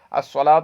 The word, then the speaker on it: الصلاۃ: الصلاۃ، یہاں پر لام کا تلفظ نہیں کر رہے ہیں لہٰذا یہ صاد کس میں سے ہے؟